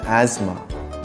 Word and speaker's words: asthma: T as in asthma.